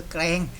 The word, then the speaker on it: แกลง: แกรง จังหวัด ระยอง นะ ครับ อ่าน ว่า อำเภอ แกรง นะ ครับ ไม่ ใช่ อำเภอ แกรง นะ ครับ อ่าน ว่า อำเภอ แกรง นะ ครับ ที่ จังหวัด ระยอง นะ ครับ ถ้า